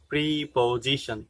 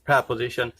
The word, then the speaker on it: preposition: us may have here pronunciation of proposition is free position which is not right actually if you pronounce preposition as p position then don't continue it change your pronunciation base pronounce it as preposition so let's talk about